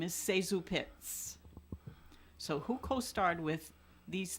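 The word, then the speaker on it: ZaSu Pitts: Most people know her as Zazu Pitts, but in checking the facts on my question, she, in her own autobiography, said that the correct pronunciation of her name is Sezu Pitts.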